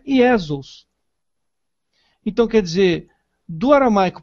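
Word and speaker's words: Ἰησοῦς: é usada desde sempre, Iesos. A língua grega não aceita o Y. Logo, foi usada uma transliteração mais próxima do original, Iesos.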